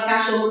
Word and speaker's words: cachorro: Esses dois L's, ele tem som forte. Quando vem dois R's juntos, os dois R's estão juntos, o som é forte.